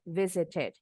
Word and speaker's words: visited: D di akhir kata Ex it bebas mau t-nya bunyi jelas t sound atau with the Flap t sound t-nya seperti D cepat visit or visited it or ited melted